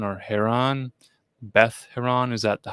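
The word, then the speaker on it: Beth Horon: BETH dash HORON. See, that's Horon.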